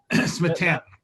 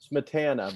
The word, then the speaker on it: Smietana: I always say, how do you say your last name? Smetana? Smetana. Smetana.